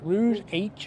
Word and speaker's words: Rouge H: How do you pronounce it? Arch. Yeah, Rouge H.